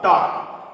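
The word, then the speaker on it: talk: AWK की sound वॉक, टॉक। तो यहां पे क्या हो रहा है कि ये वॉक टॉक, यहां पे एल साइलेंट हो रहा है।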